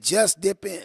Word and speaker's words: JUSDIPN: Just dip in. Wait a You know minute. what I mean? Spell it again.